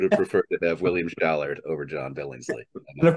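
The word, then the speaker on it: Schallert: William Shallert. Yes, not Shallot. Shallot, I believe, is the onion-like thing you try. I said Shallert.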